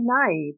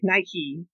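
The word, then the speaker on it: Nighy: uh dylan moran bill how do you say that i say naive but sometimes they really had key part like nike but i don't know bill nye and penelope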